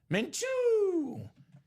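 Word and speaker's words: Gardner Minshew: Say it how you say it, Mchu. Menchu.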